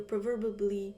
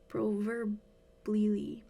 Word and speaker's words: proverbially: you've mustered the energy to move, and you proverbially-> You proverbllyyyy??